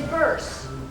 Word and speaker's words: Bearse: But it's Bearse. Oh, I'm so sorry. It's okay. Rhymes with purse.